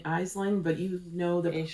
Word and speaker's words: Aisling: It's a 3-ply BFL from, and we were saying Aisling, but you know the correct Aisling.